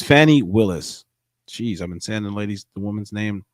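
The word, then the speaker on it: Fani Willis: say that name right yeah oh gosh it's Fanny Willis geez I've been sanding ladies the woman's name wrong the whole time all right here we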